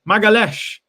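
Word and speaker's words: Magalhães: got time for it you pronounce it as magalez magalesh okay fair enough big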